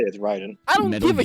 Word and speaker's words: Raiden: Raiden.